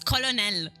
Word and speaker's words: Colonel: It's Colonel.